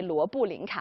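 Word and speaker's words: 罗布林卡: Actually, in Chinese, we say Luobulingka, or it's also the transliteration of Tibetan language, Luobulingka.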